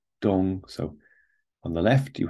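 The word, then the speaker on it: 东: On the right, you have dong, which on its own means east, but here the important part is it's pronounced dong.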